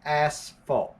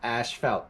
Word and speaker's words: asphalt: episode of uneven yes it is pronounced asphalt not asphalt come on England you need